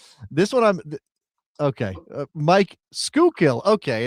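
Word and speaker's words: Schuylkill: Skookill.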